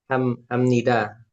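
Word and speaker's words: 합니다: Itu kok dibacai kok ham pakai M. Kenapa dibacanya ham? Jadi ini juga ada aturan pelafalannya. Jadi ini kan ada huruf P. Ya. Jadi kalau ada huruf P bertemu huruf niun, jadinya si P-nya ini berubah jadi M.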